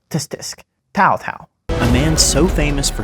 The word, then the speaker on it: Cao Cao: sound in front of it like test disk tau tau a man so famous for his fast troop